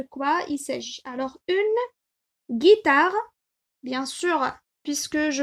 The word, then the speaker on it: guitare: pour comprendre de quoi il sèche alors une guitare bien sûr puisque je prononce ici que et qui est suivi du